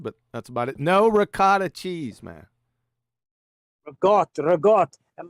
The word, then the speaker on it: ricotta: hate it i just hate the way you say it it's regard it's ricotta cheese it's r i c